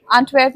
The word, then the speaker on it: Antwerp: English में अगर पढ़ा जाए तो उसको एंटवर्पेन बोलते हैं, बट प्रोनाउंसिएशन उसकी एंटवर्प है।